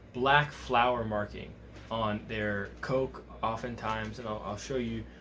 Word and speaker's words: kok: hump on their foreheads also known as a coke it's spelled kok they're really really really